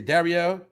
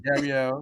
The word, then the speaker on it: Darielle: Darielle? Yep, you said it right. All right, Darielle.